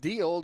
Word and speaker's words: Deal: And he needs to get Brant Deal to finish the, deal. Spelled differently, but pronounced the same.